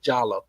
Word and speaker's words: Diallo: Well, his name, he pronounced it Jallo. He was from Gambia. And we were both students at the University of Missouri in Kansas City. And people would think we were brothers. We both had locks at the time. I think he was like 6'4", 6'5". I was 6'3". We had people thought we were brothers, and we had the same name. We spelled it the same, but we pronounced it differently.